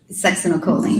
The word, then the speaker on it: succinylcholine: And so if the, butcher the pronunciation, you pronounce it. Succinylcholine. Succinylcholine was administered in the ICU because after she